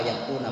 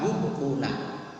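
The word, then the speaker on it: يُبْقُونَ: Ya wa yahdifunaha wa yubquna bukan wa yaquna bacanya wa yubquna.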